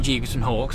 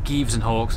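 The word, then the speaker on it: Gieves & Hawkes: day we're now leaving GBS and Hawks or Gibbs and Hawks of the I've been told it's correctly pronounced what an incredible building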